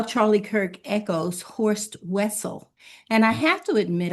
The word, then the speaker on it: Wessel: Of course, in German, it's pronounced Wessel.